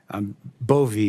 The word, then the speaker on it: Bove: It's Bove, right? Bove, Senator, like with Bove, a long I E.